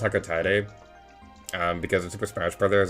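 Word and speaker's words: Hocotate: And I know it's probably is accurate because that likely is how you would pronounce it with like Japanese pronunciations and how that language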